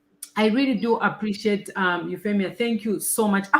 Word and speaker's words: Euphemia: really do appreciate um euphemia thank you so much i hope i'm pronouncing your name correctly how do you pronounce it euphemia euphemia so you feel me i'll give you a